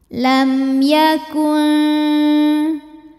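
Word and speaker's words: لَمْ يَكُنْ: Lam ada hukum idhar syafawi sebab mim sukun menghadapi huruf selain mim dan ba yaitu huruf ya. Cara bacanya mim dibunyikan dengan idhar atau jelas. Jadi masih bunyi M dan jangan ditahan.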